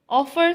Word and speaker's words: offer: Offer, stress is on first syllable, offer.